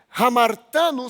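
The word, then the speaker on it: ἁμαρτάνω: Hamartano são as ações pecaminosas. Roubar, matar, mentir, adulterar. Isso é hamartano. Se escreve com H, não é com R. Hamartano.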